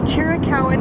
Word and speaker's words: Chiricahua: saying it out loud just based on how it's spelled it's chirikawan national monument and it's in the chiricala mountains